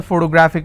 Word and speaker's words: photographic: photographic somebody has a photographic memory so what are the syllable break it's for toe bra thick and since it's ending with ic i will stress on graph so whatever is the